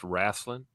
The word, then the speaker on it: wrestling: tell you something man it's pronounced rasling yeah down here it was rasling growing up I I